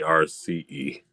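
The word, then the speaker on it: Arce: So, I pronounce it RC like cuz it's more like when you're saying as you know with the Spanish accent, but um if you're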